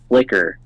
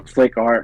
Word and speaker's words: Flickr: There's no E. I remember it's just Flick R. Oh, Flickr. Yeah, I can't even remember. It was over 15 years ago. I think it's pronounced Flickr, but I was just saying.